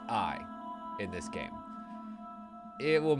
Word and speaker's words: AI: eyes the somnium files and yes that is pronounced AI in this game it will make more sense